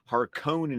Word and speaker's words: Harkonnen: hark um man how do you say it harken in is technically health remember we've always got to deal with the fact that is how herbert pronounced it harkonnen is how everyone else wants to pronounce it